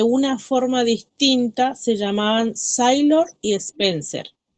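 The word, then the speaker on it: Saylor: Quienes opinaban de una forma distinta se llamaban Sailor. Sailor se escribe S-A-Y-L-O-R, Sailor.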